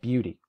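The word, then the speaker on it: BEAUti: In this folder is the program called Beauty. It's spelled a little differently than you're expecting it. To run it, type ./ B-E-A-U-T-I, no spaces.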